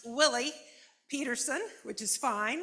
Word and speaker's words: Willey: about uh me I am Kathleen and it's pronounced Willie Peterson which is fine it's mispronounced quite often